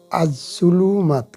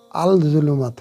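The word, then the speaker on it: الظلمات: তো কি হতো? আজ-জুলুমাত, কি হলো? আজ-জুলুমাত, আল-জুলুমাত হলো না, আজ-জুলুমাত, আলিফ লাম ঠিকই থাকলো, কিন্তু ওটার উচ্চারণ হলো না।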